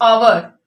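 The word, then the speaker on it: hour: अगर हम इसको प्रोनाउंस करके देखें तो हमारा एच ये साइलेंट होता है। साइलेंट मीन इसकी साउंड नहीं आ रही। हम इसको, इस वर्ड को क्या पढ़ते हैं, आवर, एन आवर।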